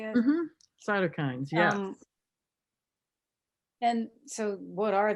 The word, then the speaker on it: cytokines: Cytokines, yes.